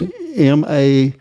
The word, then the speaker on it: Maersk: It's Maersk.